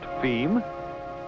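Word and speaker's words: fim: And as for distribution within Brazil, F-I-M, pronounced FEM, being, yes, you've guessed it, Portuguese for the end.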